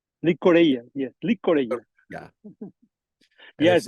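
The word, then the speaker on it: llicorella: Do I pronounce it Licorata? Licorella, yes, Licorella.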